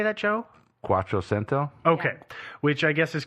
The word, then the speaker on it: Quattrocento: Quattrocento.